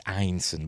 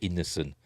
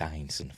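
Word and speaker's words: Ineson: It's Einson by the way. You hear a lot of Americans pronounce it innocent. It's not in. It's Einson.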